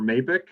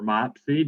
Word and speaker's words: MAIPC: a pennsylvania representative for mabic or mopsy depending on who you who you have pronounce it i work for pennsylvania's